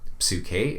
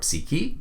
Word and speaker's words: psyche: early dialogues, which is psyche in the reconstructed Erasmian pronunciation, or psyche in modern Greek, or psyche in English, usually translated as soul,